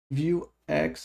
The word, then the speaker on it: Vuex: Vue, a gente tem a Vuex ou Vue, se você falar como francês, que não vai pronunciar o X. Então não tem claramente maneira correta, vamos usar Vuex.